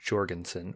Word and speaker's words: Jorgensen: After having listened to an interview with him, he does pronounce his name Jorgensen with a hard J.